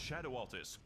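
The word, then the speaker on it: Scadu Altus: It It's pronounced Shadow Altus, a beautiful domain of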